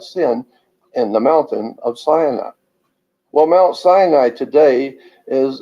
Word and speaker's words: Sinai: his people at Mount Sinai but Mount Sinai is actually sin AI and now it's interesting